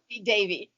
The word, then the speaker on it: Zeffi Devi: Can you pronounce the ending part of that? Zeffi Devi.